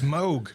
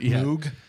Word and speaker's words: Moog: it's pronunci but it's Moog not Moog.